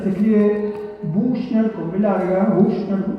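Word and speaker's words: Büchner: escribe Bushner con larga, Bushner, yo lo pronuncio así castellanizadamente.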